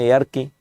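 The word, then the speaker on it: ইয়ার্কি: মানুষকে আঞ্চলিকভাবে বলে মেয়া এরকি ইয়ারকি বলে না এয়ার্কি মানে মজা ঠাট্টা করা এটাকে অনেকে এরকি বলে কিন্তু এখানে দেখুন কাটারি শব্দটা আছে।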